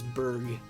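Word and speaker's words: Burgh: I always said it like burger. I think you guys are right. I think it is a hard G. I think it is Berg.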